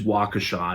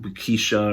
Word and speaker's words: Waukesha: people just and it's it is waukesha not wikisha or whatever sorry i i grew